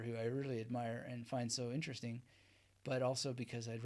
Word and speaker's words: Fiennes: I believe that Prada correct pronunciation is Fiennes yeah ray finds it even has it